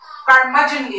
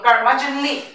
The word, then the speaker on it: curmudgeonly: ক্যান্টাঙ্করাস ক্রচিটি উচ্চারণ দেখেন ক্রচিটি ক্রচিটি তারপরে ক্রাস্টি কার্মাজনলি এটার উচ্চারণটা খুব ইম্পর্টেন্ট হ্যাঁ এই ওয়ার্ডটাও ইম্পর্টেন্ট এটা